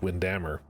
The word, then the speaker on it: Windhammer: elven catacombs under Lake Windhammer. Wise that they were not wise not to bring firewood. I pronounced it that way because that's how um Kira pronounced it. Otherwise, I would have said windm uh and so warm